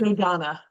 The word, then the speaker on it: Dodona: Dodona.